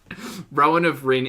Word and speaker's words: Rowan of Rin: I had the time Rowan of Rin is Rowan as in